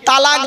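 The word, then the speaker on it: طلاق: ধর্মে স্বামী-স্ত্রী সংসার করতে গিয়ে স্বামী তার স্ত্রীকে তালাক দেয় তাই না আরে ভাই বলুন না শব্দটা কিন্তু তালাক নয় শব্দটা তালাক বলবেন না কেউ শব্দটা হলো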